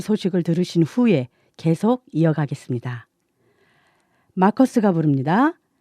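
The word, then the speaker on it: Markus: 남편의 이름은 마커스 브록스입니다. 이름이 마커스고요. 성은 브록스입니다. 스펠링을 말씀드리자면요. M-A-R-K-U-S B-R-O-X 그래서 마커스 브록스인데요. 엄마는 자꾸 마커스를 막국수로 부르시고 브록스를 브록스로 부르시는 거예요.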